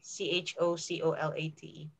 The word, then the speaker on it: chocolate: chocolate chocolate again uh as a native speaker would do it you don't say the o in the middle so instead of chocolate or chocolate you say chocolate right it's okay okay